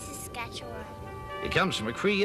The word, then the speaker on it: Saskatchewan: It's Saskatchewan.